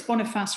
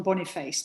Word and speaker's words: Boniface: I'm pretty sure it's Boniface rather than Boniface, but it's spelt Boniface. I think it's St.